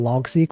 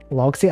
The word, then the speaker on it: Logseq: Logseq. I think it's pronounced Logseq. Seek as in like sequence.